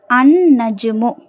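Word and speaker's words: النجم: Next அன்னஜ்மு அன்னஜ்மு லாம் உச்சரிக்கப்படல. ஏன் நூன்ங்கிறது ஷம்சியாவுடைய எழுத்து.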